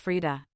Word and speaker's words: Freedia: Freedia adopted his stage name after a friend dubbed him Freedia, pronounced Frida.